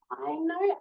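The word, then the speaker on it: AINO: So, this one on the left here is an organization called I think it's pronounced I know A I N O.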